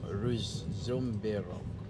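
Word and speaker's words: Ružomberok: No, Ruzomberok. I like R-U-Z, but with that sign like V on top of the Z. And O-M-B-E-R-O-K. That is the way me I pronounce it.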